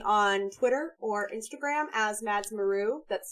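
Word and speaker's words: madsmaru: also find me on twitter or instagram as madsmaroo that's spelled m-a-d-s-m-a-r-u um i really enjoyed this panel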